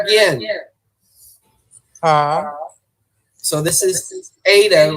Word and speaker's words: eta: This is called eta. All right. The way I draw it is like this. Okay. Eta. It's like this is a vowel sound. It's like a long E as in obey.